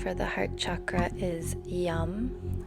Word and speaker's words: yam: the heart chakra is yum spelled y-a-m but pronounced y-u-m yum chanting the sound